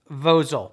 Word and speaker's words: Vozol: a company called vosel v-o-z-o-l i think it's pronounced vozel this is a 1200